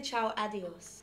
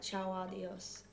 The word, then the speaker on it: Ciao Adios: I say Ciao Adios, but you pronounced it right. Ciao Adios.